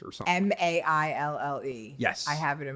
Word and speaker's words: Maille: I think it's Mally's or something. Maille. Yes. I have it in my fridge. The whole grain Yep, one? That's the one. That's the one I use, It's French. right? It's pronounced Maille.